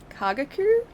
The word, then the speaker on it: Kagaku: seen that um and to our k k kagaku yeah that's how you say it no rail